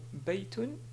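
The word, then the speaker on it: بيتٌ: Par exemple, ce mot ici se prononce baytun, mais on peut le prononcer d'une manière simple en disant bayt.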